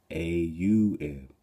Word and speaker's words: AUM: meaning and depth and when pronounced correctly it is actually actually consists of four syllables AUM and the silent syllable the first syllable a pronounced as it for long all the sound stars at the back of your throat and you stretch it out you will start filling your solar plexus and chest vibrating the second syllable o